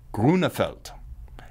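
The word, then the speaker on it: Grönefeld: I once wondered what their name pronunciation was during fondue in Switzerland, and one of the guys with me had the Groenefelds on speed dial, called them up, and the voicemail came back, Groeneveld. That's how cool these guys are.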